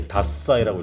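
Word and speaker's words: 獺祭: 이게 다사이라고 읽어.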